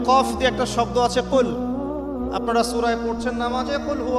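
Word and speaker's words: قُل: যেমন কফ দিয়ে একটা শব্দ আছে কুল।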